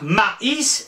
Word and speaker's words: maïs: Regardez le mot mais, M-A-I-S. Ben, mais, le A-I se prononce E. Si on veut avoir maïs, il fallait trouver quelque chose. Et qu'est-ce qu'on a trouvé? Ben, de mettre deux petits points sur la deuxième lettre.